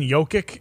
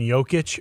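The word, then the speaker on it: Jokić: Shams uh real quick you keep saying Yoki you're the only guy I have heard say jokic's name without saying yic are we saying it wrong and is it yic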